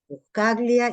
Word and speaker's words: Buscaglia: bien, tan- es bien italiano, Buscaglia, y si voy para el otro lado, tengo Barbagellata, Facio, son todos tanos en la familia.